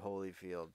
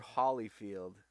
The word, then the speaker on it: Holyfield: are you anyway Evander Holyfield came the reply no you're not your Hollyfield how we argued purposely mispronouncing the the last name and then Holyfield shrugged